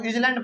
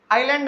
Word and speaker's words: island: अच्छा, बहुत बच्चे ना इस वर्ड को ISLAND को इजलैंड पढ़ते हैं। इजलैंड नहीं है वो, आइलैंड है। इसमें जो है ना एस जो है ना वो साइलेंट रहता है, उसको हम लोग नहीं बोलते हैं, समझ गए बात को। तो इजलैंड इसको नहीं बोलना है कभी, इसको हमेशा बोलेंगे आइलैंड। एस क्या है, साइलेंट है, ठीक है ना।